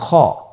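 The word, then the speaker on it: خا: খ হরফটি উচ্চারণ করব খ হরফটি হল মোটা হরফ উচ্চারণের ক্ষেত্রে মোটা হবে।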